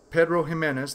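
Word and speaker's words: Pedro Ximénez: Barrels that originally contained 30-year-old Pedro Ximenez Sherry, Pedro Ximenez, that's where the PX comes from, because the X is pronounced like an H.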